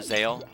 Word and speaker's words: Zexal: Zexal. Or Zale. I don't think it has necessarily a proper canonical pronunciation. I think most people say Zale, but Zexal's fine.